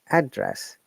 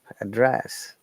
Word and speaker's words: address: of them is known address and another one is verb address so when it's known which trace in the first syllable address when it is var we stress in the second one address so we need